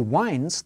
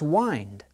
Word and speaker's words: wind: He winds the clock. A clock is used to tell time, and the word time has the same vowel sound as wind.